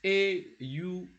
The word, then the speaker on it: aux: It is aux. Aux. It's pronounced. It's pronounced o. We don't pronounce that x.